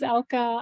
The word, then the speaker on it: Elke: ELKE, how do I pronounce that name? Okay, go ahead. Can you hear me? Okay. Yes. My name is Elka.